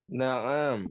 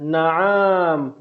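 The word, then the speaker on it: نعم: Ain itu tidak panjang. Ya, na'am, ya. Maka yang sahih na'am. Hadza qamisun, ya, bukan na'am, bukan ainnya panjang. Ya, kita lihat yang terakhir. Ahadza najmun? Naam.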